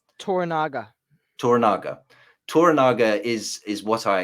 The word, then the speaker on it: Toranaga: How do you pronounce the Sanada's character's name? Toranaga.